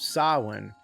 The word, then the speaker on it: Samhain: It dates back to the old Celtic festival of Sawin. I always thought it's weird how it's spelled Sam Hayne, but pronounced sawin.